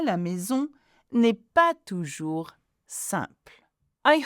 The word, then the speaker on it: maison: Donc, l'ambiance, again, same pronunciation as EN, the ambiance or the atmosphere à la maison, one S is a Z sound, n'est pas toujours simple.